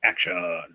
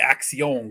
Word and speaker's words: Axion: a lance jacket yeah Axion is pronounced action thanks fat rafu fat